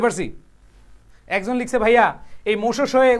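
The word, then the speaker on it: Moshoeshoe: একজন লিখছে ভাইয়া এই মোশো শোয়ে উচ্চারণটা বলেন, এটা হচ্ছে মোশো শোয়ে, মোশো শোয়ে, মোশোয়ে শোয়ে, ঠিক আছে? আর এটা মজার, এটা বাংলা আর মজা হয়, মো শু শু শু, মো শু শু, মো শু শু।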